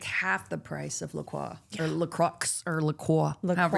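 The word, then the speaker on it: LaCroix: I can't remember how I used to say it, but I it was incorrect. And my uh a friend of mine had a what? A foreign exchange student from France. And I was like, "How do you say Lacroy?" That's how I said it. How do you say Lacroy? That's how I said it, too. And she goes, "What?" Laqua. And okay, I guess that's it.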